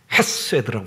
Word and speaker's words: 헤세드: 인자하심이라는 단어는 히브리어로 헤세드라고 하는 단어입니다. 그래서 헤세드가 아니고 아주 격한 발음으로 헤세드라고 말을 합니다.